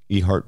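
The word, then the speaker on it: Eheart: They once again searched this land in Ehart, Virginia, E-H-E-A-R-T. Mm-hmm. So the letter E followed by heart.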